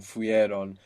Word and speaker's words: fueron: add on Iran but we will find it very difficult to pronounce fuieron fueron so the e sound the I fell away so how would that